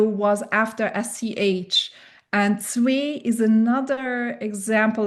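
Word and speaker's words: zwee: And zwei is another example like that where the W sound becomes a softer pronunciation.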